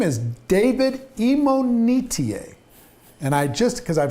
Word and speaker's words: Imonitie: uh in this conversation his name is David imonitier and I just because I've heard it pronounced five different times five different ways right